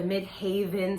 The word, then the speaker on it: midheaven: also known as the midheaven the mc okay and or the mid haven some people say it like that it's all up to you how you want to say it but it's the highest